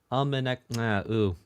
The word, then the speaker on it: Umineko: See, I thought I had it right. Umineko. It was the first syllable.